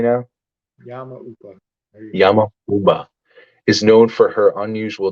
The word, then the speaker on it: Yama-uba: yamama uba I'm so proud of myself I'm pronouncing it correctly Now yba Yama uba is known for her unusual diet which sometimes